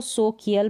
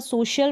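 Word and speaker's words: social: जैसे कि यहाँ पर देखें, यहाँ पर ना तो इसको सोकियल पढ़ेंगे, ना इसको सो, यहाँ पर सोशल पढ़ते हैं, ना इसको क पढ़ेंगे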